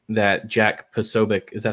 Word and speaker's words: Posobiec: And she did not like that Jack Posobiec, is that how you say his name? Yeah, Posobiec, yeah.